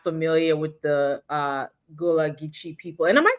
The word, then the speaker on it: Gullah: American friends and I I feel like she pronounced it differently. Gulla or something and I and I and I'm always be saying gula. So we we say gula in Okay, that's what it is.